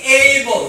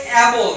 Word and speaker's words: able: আজকের শব্দ হচ্ছে কি এইবল বলো এই অনেকে বলে এবল কিন্তু সঠিক উচ্চারণ কি হবে এইবল এইবল বলো এই মানে